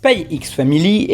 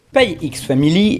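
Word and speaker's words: Spy x Family: petite mise au point je suis parfaitement au courant qu'il est probable que le x ne se prononcent pas et que ce soit en fait une sorte de hocine de multiplication comme pour hunter x hunter ou high school des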